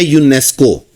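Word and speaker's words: UNESCO: बिल्कुल इसी तरह ही है जिस तरह हम बोलते हैं यूनेस्को। अब यूनेस्को हमारे पास क्या है? वैसे तो एब्रविवेशन है। यू एन ई एस सी ओ। अब ये हमारे पास क्या है? एब्रविएशन है। लेकिन अब इसको वर्ड बना के बोल दिया जाता है।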